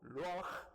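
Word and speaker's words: רוח: 그때 그 하나님의 영을 히브리어로 루아흐 이렇게 발음해요.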